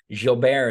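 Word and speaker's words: Gilbert: my nemonic for this jilber is pronounced kind of like ja from lay Miz he was putting people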